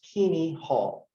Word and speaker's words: Keaney Hall: okay so this is this word is pronounced kini hall okay you can always tell uh new students from uh veteran students because they cannot pronounce this okay but but if you've been here a year or two then you know this is kini all right and so